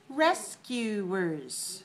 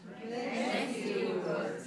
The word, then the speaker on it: rescuers: Now, how many syllables do you hear in this word? Rescuers. Rescuers. How many do you hear? Rescuers. 3. Good. Where is the stress? Rescuers. 1. Okay, 3, 1. 3, 1. All right, 3 syllables, stress the first one.